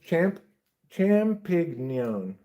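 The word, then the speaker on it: champignon: Yeah, it's pronounced champignion.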